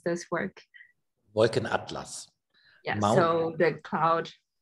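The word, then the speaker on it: Wolkenatlas: Can you correct me how to pronounce this work? Wolken Atlas.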